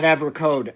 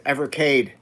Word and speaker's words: Evercade: No, not Evercode. Evercade spelled like this.